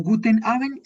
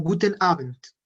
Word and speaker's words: Guten Abend: No Guten Abend, sino Guten Abend. Guten Abend. Un poco nasal al final, Guten Abend, pero que se note la D al final. Guten Abend.